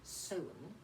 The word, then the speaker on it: Samhain: the time of year what pagans called sowen although it's spelt samhain now originally this would have